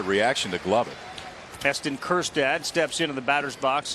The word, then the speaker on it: Kjerstad: So the spelling of Kjerstad's last name, it's Kjerstad. Dave Van Horn often calls him Silent J, because the J is silent in the last name.